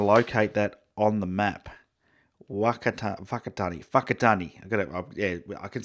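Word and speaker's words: Whakatāne: map we are near Walker Thani oh oh it's pronounced like an F the WH oh it Danny I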